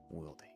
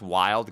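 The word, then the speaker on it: Wilde: It's pronounced wild. Gotcha. I I don't know names. So, Oscar Wild.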